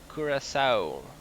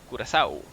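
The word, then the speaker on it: Curaçao: That's pronounced Curacao. Curacao.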